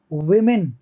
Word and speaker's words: women: WOMEN, वेमेन, वेमेन, ओ से plural है ना, ओ से ई का साउंड आ रहा है, देखो।